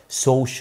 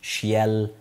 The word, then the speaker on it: social: social مش شيال، social. social studies.